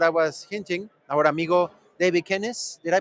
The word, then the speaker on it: Davy Kenis: So we have today with these awesome presenters that I was hinting, our amigo Davy Kenis. Did I pronounce it well?